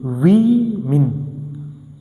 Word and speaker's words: women: And keep in mind that the pronunciation of this also gets completely changed. A woman, woman. 3 women. A woman, 3 women. Pronunciation got completely changed. Women. A becomes E.